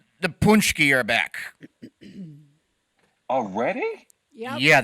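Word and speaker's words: pączki: There's no N sound there. The C it actually has a crescevante underneath it, which is a different type of sound than the letter C.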